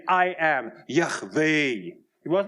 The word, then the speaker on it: Yahweh: And he said, I am Yahweh.